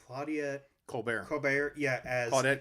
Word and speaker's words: Colbert: Gable as Peter Warne and it's hard to pronounce her name Claudia Colbert Colbert yeah I thought it called the Colbert le